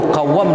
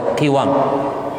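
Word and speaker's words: قوام: Pertama, baik itu qawwam dibaca dengan fathah qafnya atau dibaca dengan kasrahnya, qiwam. Kalau kita lihat buka kamus bahasa Arab, itu kita dapatkan cara bacanya 2.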